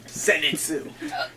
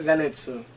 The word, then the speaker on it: Zenitsu: But it's a Z. Well, it's a Z, not an S.